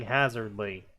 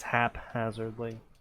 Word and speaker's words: haphazardly: of a bell ringing hazard Lee it's it's haphazardly not not hazard Lee I don't